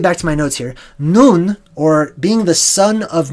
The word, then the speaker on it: nun: now in you in is properly pronounced noon ok noon is a